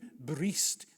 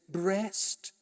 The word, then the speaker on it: breast: Charles, I know it has to read bree before it rhymes, but an Englishman says breast dowi.